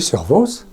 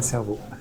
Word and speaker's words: Servoz: Comment on prononce Servoz? Oui, Servoz. Bon, pas cerveau.